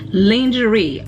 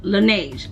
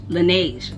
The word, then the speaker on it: Laneige: i used to use lingerie i know i'm saying that wrong look laneige laneige that's how you say it i used to use lineage however i wanted to